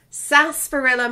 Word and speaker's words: Sarsaparilla: Okay, the R is silent. Sarsaparilla Marketing.